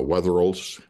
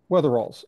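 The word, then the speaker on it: Wetherill: the weather Wheels the please uh yeah I pronounce it properly uh weather rols weather rols of the Four Corners region his great-grandfather John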